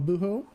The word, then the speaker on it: Buho: expression of uh el buho abuel uh without the h is silent just just gringos we